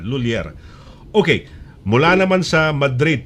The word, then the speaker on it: Lhuillier: Dalawang syllables lang, hindi pwedeng LHUILLIER. Yan, LHUILLIER.